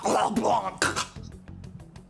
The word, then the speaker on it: Leblanc: over there uh ryuji is pronounced LeBlanc say it like the French do we went through all